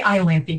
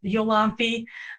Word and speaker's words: Iolanthe: And then the same with, I say Iolanthe because that's how they say it in Gilbert and Sullivan. Although I had one interviewer pronounce it Yolanthe, and I think she's probably correct. I have a feeling, the British, they like to just say things however they feel like saying things. So it's probably better pronounced Yolanthe.